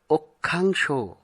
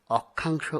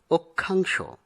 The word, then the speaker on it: অক্ষাংশ: আমরা এখানে যে শব্দটি প্রথমে দেখতে পাচ্ছি তার সঠিক উচ্চারণ হবে অক্ষাংশ। অনেকেই অক্ষাংশ উচ্চারণ করেন, কিন্তু সঠিক হবে অক্ষাংশ।